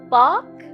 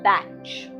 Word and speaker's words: Bach: park or batch depending on where you are in the world how you pronounce it makes no difference my journey into understanding